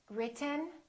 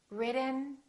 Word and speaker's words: written: sounds of American English I'm going to say one word three different ways and I want you to ask yourself which one sounds like an American accent listen carefully written written written button button but forgotten